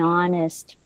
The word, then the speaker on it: honest: And that also happens here with H when it is silent. For example, an honest person. Okay? Even if it starts with a consonant letter, but the sound is a vowel sound. Honest.